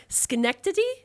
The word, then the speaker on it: Schenectady: Because when you look at that word, it doesn't look like it should sound like that. No, I'm gonna say that. I think there was a Schenectady movie.